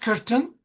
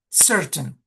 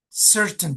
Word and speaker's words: certain: But Sham this word is not curtain certain. Remember that when the C when the C letter is followed by E, the C should be pronounced S certain time.